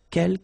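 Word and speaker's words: quelques: second one uh K you don't pronounce the final s here Kel means few okay and same thing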